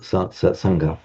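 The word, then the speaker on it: Saṅgha: It can equally be correctly written with a subdotted M, Sangha. The pronunciation would be the same, optional which way you write it.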